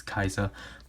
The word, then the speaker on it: Kaixa: I know it's Kaiza, but I grew up with Kaixa.